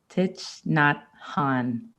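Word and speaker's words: Thich Nhat Hanh: it's from i'm going to say this wrong tit not han thank you for saying it right it's so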